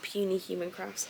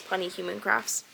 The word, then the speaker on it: Punny Human Crafts: So this is Bubbles the Hippo by Punny Human Crafts. I think that's how you say it, not Puny Human Crafts. I think it's Punny Human Crafts.